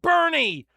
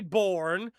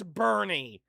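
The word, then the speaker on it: Boerne: It's pronounced Bernie. YOU. OH, WHY DO WE DO THIS? I knew it wasn't going to be born. Of course, it's Bernie.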